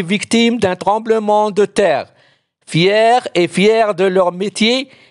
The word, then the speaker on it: fier: gens fiers yassine est fier d'avoir gagné la course il est très content de sa victoire attention pierre f i er se prononcent fier comme le féminin fier anti synonyme complet mais